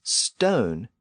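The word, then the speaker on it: stān: changes I described earlier it was Stan in Old English usually spelled St n but by this point it was probably pronounced as ston in Southern and Central England and the word started to be spelled with an O to reflect that change in fact laman's brute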